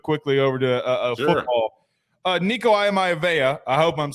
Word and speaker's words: Iamaleava: So I kept working on that, and finally I was able to get that Iamaleava.